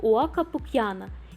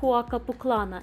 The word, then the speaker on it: Huaca Pucllana: y se pronuncia como Huaca Pucyana y no Huaca Puclana como le dirá un tripedista y un centenar de otros sitios también se lee doble e en español.